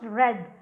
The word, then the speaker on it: read: night so remember that read past form of read is pronounced red though they have the